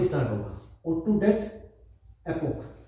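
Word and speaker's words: debt: एक तो हो गया एलैक्टिक O2 डेट, एक हो गया lactic O2 date, oxygen date, B silent है, ध्यान रखना, इसको डेट मत बोलना, ठीक है ना।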